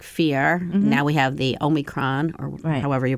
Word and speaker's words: Omicron: now we have the omicron or however you pronounce that um it's not it doesn't have an n in it by the way it's only kron oh even though i